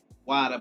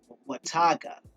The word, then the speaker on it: Watauga: I pronounced it Wada, but it's actually spelled Watauga. So it's Wataga. Well, at least that's what it looks like to me.